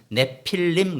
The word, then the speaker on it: 네피림: 당시에 땅에는 네피림이 있었고, 원래는 사실은 한글 발음이 네피림 그런데 원래는 그나마 좀 원어 발음하고 좀 가까이 가려면 네필림 그래야 됩니다. 근데 그냥 우리가 네필림 하는 것보다 네피림 발음이 훨씬 편하니까 그냥 그렇게 썼는데, 네필림이라는 단어는 히브리어 원어에서는